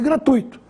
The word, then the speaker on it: gratuito: a forma correta é fortuito e gratuito sem acento abias corpos como se